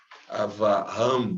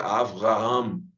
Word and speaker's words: Avraham: Mas compêndios modernos recomendam aí essa forma de sotaque, O som como V, Avraham, por exemplo, A gente entende Abraão, mas o som para se pronuncia Avraham, ok? Veja, Avraham, O som de V.